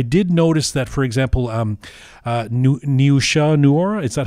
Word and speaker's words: Niusha Noor: I did notice that, for example, Niusha Noora, is that how you say her name, the lead actor?